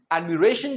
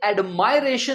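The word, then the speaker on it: admiration: उसका नाउन क्या बना ये एडमाइरेशन नहीं है ये है एडमिरेशन मतलब प्रशंसा नेक्स्ट है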